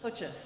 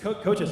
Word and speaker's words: Kochis: Kochis. Kochis, okay. I wasn't sure about the pronunciation there.